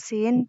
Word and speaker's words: sin: Jadi untuk yang pertama yaitu cara mudah membedakan huruf sin dan shin. Kalau dalam Indonesianya, perkataannya Indonesia itu sin itu S-I-N, kalau shin S-Y-I-N. Jadi untuk pelafalan huruf sin sama dengan bunyi huruf S dalam abjad Indonesia.